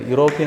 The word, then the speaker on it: European: European also that it word looks like e but it pronounced like y.